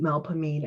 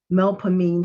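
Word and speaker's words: Melpomene: instead of nollens three mel as in melodious pah or with an o as in body me with an e that sounds like the i in with or which and a concluding long stressed syllable knee with an e as in we or free the muse of tragedy's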